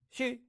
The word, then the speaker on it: 十: This is how 10 is pronounced in Chinese. 十 And so, no, she, she, she. I think of sheet. I kind of hear sheet out of it.